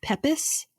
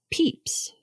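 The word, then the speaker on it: Pepys: of London episode okay I kept saying it as pepis and it's actually pronounced peeps oh that's cute peeps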